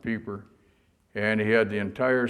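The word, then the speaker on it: Peiper: East under General peeper we call him Piper but the Germans pronounce it peeper and he had the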